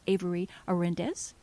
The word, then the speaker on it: Avery Orendez: Her name is Avery Orendez. Did I pronounce that right?